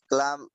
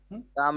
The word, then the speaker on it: calm: I wished I could remain calm during come all কাম হবে, এখানে এল এর উচ্চারণটা হবে না, সি এ এল M, come. calm during অল of this.